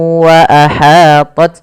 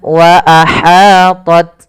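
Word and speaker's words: وأحاطت: Kemudian wa ahatat bih. Hati-hati dalam melafalkan ha kecil, jangan dibaca wa ahatat bih, tapi wa ahatat ya.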